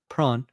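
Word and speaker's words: Sjón: So we're gonna say Prawn.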